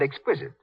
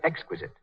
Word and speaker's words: exquisite: Mary Jane's mother said exquisite. She should have said exquisite.